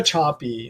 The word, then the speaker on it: Sapi: behind it so um Eva choppy is a researcher her last name is spelled sapi she's a PhD she